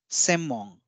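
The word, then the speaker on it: 専門: it is pronounced as semmon so although it's written as senmon it is pronounced as semmon so when we will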